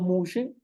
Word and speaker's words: muxe: de la comunidad y el término mushe es una palabra de origen latino colonial y tenía que ver con esta pronunciación española del siglo 161 que decir mu de muer este al igual que